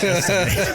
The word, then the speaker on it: estivate: Like estimate, only with a V instead of an M.